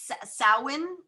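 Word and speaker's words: Samhain: and uh what are y'all doing and well sowin is um is that what it's called okay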